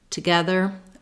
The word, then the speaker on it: together: Together, words that have TO in the first syllable and are unstressed on that first syllable are going to be that quick schwa sound.